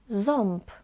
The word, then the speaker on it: ząb: But actually, when on is followed by B or P, we pronounce it as om. Ząb, ząb.